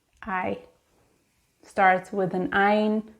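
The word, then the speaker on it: עין: I starts with an ein, pronounced ein.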